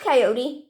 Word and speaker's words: coyote: harmless mostly old brother coyote is too smart to go messing with humans he pronounced coyote coyote i've been stuck here a